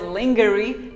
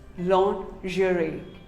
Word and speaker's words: lingerie: is pizza pizza pizza here's another commonly mispronounced word lingerie well most of us call it lingerie no it is not lingerie it is actually called lingerie say lingerie long jury what do you call